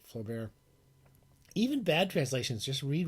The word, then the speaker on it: Flaubert: The masturbators call him Flaubert. We call him Flaubert, Gustave Flaubert.